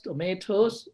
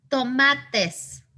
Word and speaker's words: tomates: Los tomatos rojos. Okay. Tomates. Tomates. Tomates. Okay. Is the spelling correct? No, it is TES as opposed to TOS.